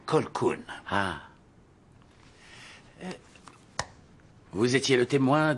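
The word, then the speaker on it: Colquhoun: Monsieur Colkeon, ça se prononce Colkoun.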